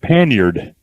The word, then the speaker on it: panniers: Same way we call Panniers, Panniers, is pronounced Panyard, Panyard.